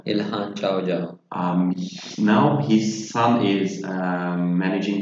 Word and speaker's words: İlhan Cavcav: İlhan Cavcav. İlhan Cavcav.